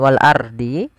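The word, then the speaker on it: وَالْأَرْضِ: Wal ardi rya di sini ada hukum tajwid berupa ro tafkhim. Jangan wal ardhi tapi dia ro tebal.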